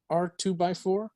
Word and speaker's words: R2-BY4: It's R2x4. It's spelled R2-BY4, but R2x4 by 1980 Who.